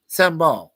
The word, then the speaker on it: sambal: milk with cucumbers and sambal or sambai is it sambal sambal okay a chili paste right